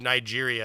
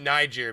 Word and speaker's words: Niger: Well, we pronounce it Niger because we got to stay away from the soft I. The soft G. We got to put a hard just sound on that and an I. Niger with a J.